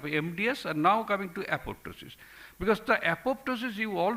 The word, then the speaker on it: apoptosis: or it is called apoptosis uh p is silent so initiators there are